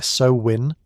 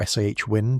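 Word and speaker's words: Samhain: Sam Hine, pronounced roughly as a so-win or s win, depending on which Celtic language and dialect we're talking about, translates directly from old Irish as summer's end.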